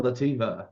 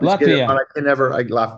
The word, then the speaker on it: Latvia: One question, is it Litva or Lativa that will be open in the future? We have lots of questions coming in with that. Lativa. Lativa. Okay. Latifa. Lativa. Latvia.